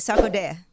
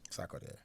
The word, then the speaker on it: Sarkodie: Let me say his name right, Sarkodie. Sarkodie, yes.